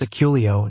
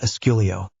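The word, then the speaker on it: Accio: Zabini, there is no S in Aculio. It is pronounced Aculio, not Asculio.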